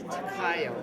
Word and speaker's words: Takayo: Well, do you want to just spell it for me? My name is Takayo.